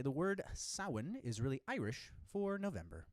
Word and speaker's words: Samhain: refer to halloween as samhain is what it looks like but it's pronounced sawin and there was this